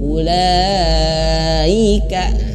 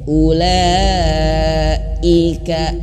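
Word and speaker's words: أولئك: cara bacanya tidak panjang ketika Hamzah Awas Hamzah yang ini Ibu Bapak harus diputuskan suaranya ketika mengucapkan mengucapkan huruf lam Ula Ika diputus jangan disambung Laika tidak ya ulaa Ika an an tahan karena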